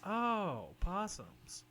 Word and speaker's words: opossum: me more yeah um it's just how you pronounce it there's always an o in front oh possums they're also their body